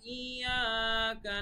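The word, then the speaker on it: إِيَّاكَ: তারপরে আয়াতে আমরা যাচ্ছি, ইয়াকা না'বুদু ওয়া ইয়াকা নাস্তাঈন। উচ্চারণের ক্ষেত্রে এখানে আপনারা আইনের উচ্চারণের দিকে লক্ষ্য রাখবেন, পাশাপাশি টানগুলো। ইয়াকা, এক আলিফ টান এখানে, ঠিক আছে, ইয়া।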